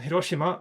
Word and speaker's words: Hiroshima: So, and Hiroshima, for those of you who don't get that, it's how you actually pronounce Hiroshima. When we in the West talk about Hiroshima, a Japanese person will think, well, that's not right, it's Hiroshima.